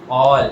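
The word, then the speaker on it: -ol: All. OL you should pronounce it as all.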